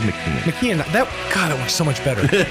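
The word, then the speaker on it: Machen: And I was like, I think I said Mashin. I'm going with McKeon.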